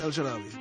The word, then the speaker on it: El Shaarawy: Yeah, how do you pronounce it? El Shaarawy? El Shaarawy.